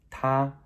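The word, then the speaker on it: 他: It is all pronounced ta, that's high flat, ta.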